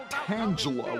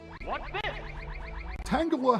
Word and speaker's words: Tangela: Alright, she sent in Tangela, except for some reason the announcer pronounces it Tangela with a soft G sound.